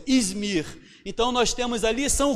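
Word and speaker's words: İzmir: que como eu falei acredito que seja assim a pronúncia izmir então nós temos a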